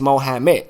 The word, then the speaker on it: Mohammed: It is many ways to sit up there and pronounce it, but the correct way is Mohammed.